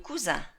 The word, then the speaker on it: cousin: Realmente lo único que les diferencia es la E final por escrito, pero si os fijáis en el sonido, el masculino de primo es le cousin, el femenino es la cousine, y se pronuncia en este caso la N porque ya tenemos dos sílabas, ya no es la vocal un final.